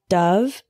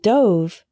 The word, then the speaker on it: dove: only six desert dessert next we have Dove and Dove a dove is a type of bird for example I could hear the doves singing outside my window Dove is a verb meaning the past tense of dive for example she dove into the swimming pool Dove Dove the word l e